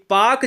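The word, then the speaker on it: Palk: है यह पाक जलसंधि पीए एल के को हम पाक कहते हैं ठीक है ना इसमें एल साइलेंट होता है मैकमोहन रेखा भारत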